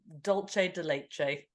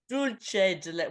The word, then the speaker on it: dulce de leche: It's dulce. Dulce de leche.